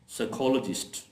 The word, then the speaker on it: साइकोलॉजिस्ट: Physique P एस वाई पी एस वाई में जब पी के बाद एस आ रहा हो तो फिर पी साइलेंट हो जाता है और एस की साउंड जो है वो अदा की जाती है।